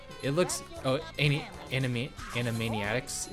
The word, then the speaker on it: Animaniacs: looks oh any enemy animaniacs is that how you say it yeah animaniacs in a maniac instead of animated animations yeah animaniacs okay um